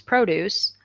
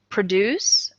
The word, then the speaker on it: produce: but really there are produce and produce are spelled exactly the same way okay but they have a different accent so listen to one produce and then produce okay so where does the